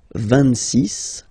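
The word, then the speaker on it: vingt-six: So remember it's ending with X, but then we pronounce it S. 26.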